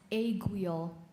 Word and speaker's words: aiguille: Your word is aiguille. Aiguille. Sorry. Aiguille. Am I pronouncing it correctly?